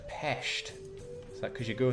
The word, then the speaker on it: Pest: Jake, it's pronounced Pest.